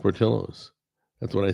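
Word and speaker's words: Portillo's: It's pronounced portillos. It's It's pronounced portillos.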